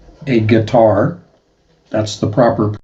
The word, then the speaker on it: Qatar: Bahrain, Kuwait, Oman, Gutter, also pronounced guitar as in the musical instrument. A guitar, that's the proper pronunciation.